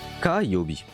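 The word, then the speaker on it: 火曜日: Ça se prononce Kayobi, le mardi. Kayobi.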